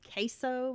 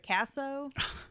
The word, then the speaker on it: Kasso: news report in which they uh pronounced his name queso instead of casso so he's kind of